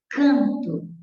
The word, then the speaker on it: canto: Canto, eu tenho 1, 2, 3, 4, 5 letras, mas você sabe que esse N aí não é pronunciado em final de sílaba no meio da palavra.